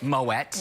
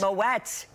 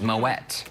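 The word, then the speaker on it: Moët: Yes, and same thing with Moet. Moet. It's not Moet. No way, Moet. Because it has an umlaut. And it's a thing. Helps to wet your palate. Moet.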